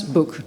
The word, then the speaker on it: Bök: Okay, so I pronounce Book. Book, just like something you read.